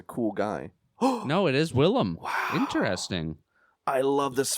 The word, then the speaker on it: Willem: I think it's spelt William though, but I've only heard it pronounced Willem Dafoe. I think that he's just a cool guy. No, it is Willem.